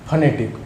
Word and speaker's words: phonetic: Correct pronunciation of the word is फनेटिक. कुछ लोग इसको बोलते हैं फोनेटिक.